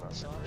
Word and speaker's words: Lesage: All right, welcome to Quebec Lesage. Did I say it right? Lesage?